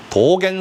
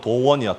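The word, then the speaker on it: 道元: 옛날 일본에 도겐 선사라는 분이 계셨어. 도겐. 우리 발음으로론 도원이야. 도원. 도원 스님인데 일본뿐이니까 일본식으로 불러야지. 도겐 스님이야.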